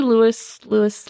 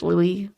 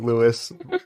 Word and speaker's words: Louis: it's fine it's just it's literally spelled Lewis we're gonna have to go through your notes and phonetically put Lou yeah yeah it's Louis Louis Louis you guys anyone listening you could just just pronounce it however you want just imagine it the way you want to hear it yeah disregard Stephanie saying Lewis like five times oh oopsie